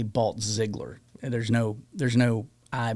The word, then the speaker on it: Balltzglier: Balt Ziggler Ziggler. Well, here's the thing. My family grew up saying Balt Ziggler.